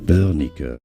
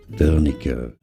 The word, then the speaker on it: Wernicke: How to pronounce this name in German? It is said as Wernicke. Wernicke.